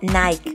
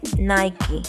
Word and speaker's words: Nike: No se pronuncia Starbucks, se pronuncia Starbucks. No se dice Nike, se dice Nike.